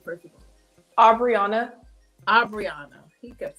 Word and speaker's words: Obriona: Obriona.